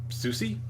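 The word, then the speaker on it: Sucy: um her lot and Susi I think so you pronounce it like Lucy but with an S they're just sitting in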